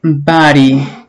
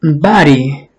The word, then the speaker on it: body: Normalmente cuando se pronuncia despacio se dice my body con D, pero ya cuando lo hablan más fluido, esa D suena más como una R, como una sola R, ¿ok? No es body, sino body, my body, ¿ok?